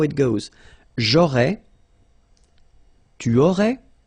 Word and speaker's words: j'aurais: J'aurais, so final S, not pronounced.